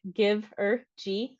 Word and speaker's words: Givergy: our services to you um so who is Giver G first thing I always get asked is who are you like Giver givery Giver what so like to pronounce it give or G that's how you pronounce our name um so